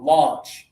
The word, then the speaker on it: launch: Single finger. Ah. Ah. A. Launch.